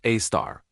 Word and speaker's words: Sagittarius A*: It's called Sagittarius A*, pronounced A star.